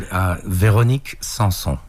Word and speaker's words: Véronique Sanson: Only because I don't have the pronunciation skills that you have. No, that's cool, man. Véronique Sanson.